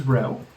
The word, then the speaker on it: rho: And the final number we need to know, which is always very important and rhymes with no, is rho.